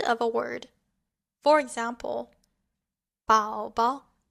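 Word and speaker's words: 宝宝: For example, 宝宝, 宝宝. Here, the second character has a neutral tone.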